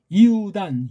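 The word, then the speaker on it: Ἰούδαν: 이입니다이야 코브 에네 센톤 이단 유단이 아니에요 이단 카이토스 아델포스 아우트 오늘날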